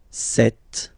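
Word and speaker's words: cette: set feminine set so you can notice that phonetically these two are pronounced the same way okay set here and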